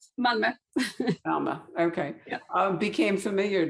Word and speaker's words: Malmö: And said, I won't try this one either, but I'll call it Malmo. You tell us how you really pronounce it. Malmö.